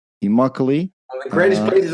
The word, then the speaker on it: Immokalee: Josh is originally from a small village in Florida called, Josh, help me out with the pronunciation. Immokalee. Immokalee.